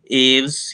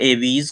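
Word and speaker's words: Aves: कुछ एनिमल्स के नाम दे रखे हैं जैसे गोट, human being, cockroach, eagle, fish, एव्स या एवीज। कुछ लोग अलग अलग प्रोनाउंसिएशन।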